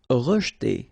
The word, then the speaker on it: rejeter: Rejeter. Okay, so here the E is not really pronounced, so you get rej. Okay, so E pronounced like E. Rejeter. Rejeter.